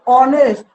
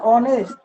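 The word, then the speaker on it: honest: এ এ হব আরো অনেস্ট উচারণ অনেস্ট honourable honourable এগুলা কি হইবো এন আইবো এইচ উচ্চারণ নবই কিন্তু এইচ উচ্চারণ নব দেখলে কি আইব এন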